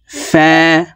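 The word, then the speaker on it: ف: হবে আইন গাইন গাইন ফা ফা হরফ উপরের দাঁত নিচের ঠোঁটের পেটের সঙ্গে লাগিয়ে উচ্চারণ করতে হবে ফা এক আলিফ টেনে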